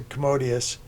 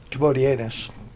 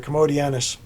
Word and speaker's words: Commodianus: Antichrist so again they according to according to commodius commodianus sorry about the pronunciation there commodianus uh those persons will also overcame they overcame